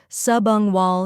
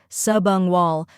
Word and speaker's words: subungual: the correct pronunciation is subang wall he first part subang wall sub like submarine un like lung and wall like wall second part hea he